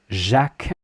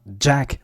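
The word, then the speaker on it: Jacques: So, the pronunciation um of Jacqu, keep it smooth, keep it really uh smooth without any explosiveness to it. Not Jack, but Jack.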